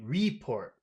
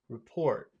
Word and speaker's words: report: report it's it's pronounced report which Sy the second the report it's the second one that's very important to notice which syllable has all of the Power okay yeah I started